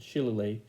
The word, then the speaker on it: shillelagh: I've never been sure how to pronounce that word, but I think that's the way Bing pronounces it, Shillelagh.